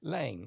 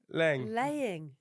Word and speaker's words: Laing: Laing. Like laying an egg. Oh. Laying.